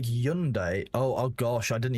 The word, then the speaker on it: Hyundai: You pronounce it without the H like yundai.